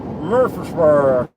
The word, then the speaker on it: Murfreesboro: It's spelled Murfreesboro, but like the old timers, the old timers that are natives of Tennessee, it's kind of like they make a noise. They go Murfreesboro, Murfreesboro, Murfreesboro.